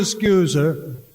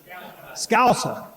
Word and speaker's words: Scouser: Even though he's a scoozer, am I pronouncing that right? Close enough? Scouser? Scouser. Please don't tell Pete I mispronounced it.